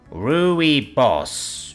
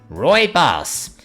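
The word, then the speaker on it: Rooibos: re boss t r ruy boss R how do I pronounce that spiff quickly searches and finds the proper pronunciation oh oh okay Roy boss that's how you say it okay mod right then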